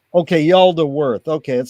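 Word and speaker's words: Yaldabaoth: Yaldaworth, I think it's pronounced. Okay, Yaldaworth.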